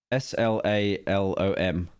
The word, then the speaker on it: slalom: S-L-A-L-O-M.